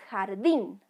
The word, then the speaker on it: jardín: veamos la palabra harding el sonido correcto es jardín no jardín ya jardín es decir la sílaba tónica está en la última sílaba esta palabra aguda ya